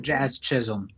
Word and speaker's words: Jazz Chisholm: I don't even know who that is. Yep, Jazz Chisholm. You got the pronunciation right.